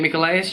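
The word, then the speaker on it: Michaelis: he took me to st. Michels church there's another way to pronounce it st. Michael is Church maybe the famous and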